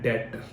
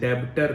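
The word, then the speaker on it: debtor: पहली बात, इसको स्पेलिंग के हिसाब से ये डेब्टर है, बट याद रखिएगा बी जो है इसमें वो साइलेंट है, आपने इसे डेब्टर नहीं पढ़ना, हमने इसको क्या पढ़ना है, डेटर। क्या पढ़ना है, डेटर, बी साइलेंट है, याद रखना।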